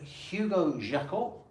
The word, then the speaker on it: Hugo Jacot: And Hugo Jacot, did I pronounce that correctly? You pronounced that correctly indeed.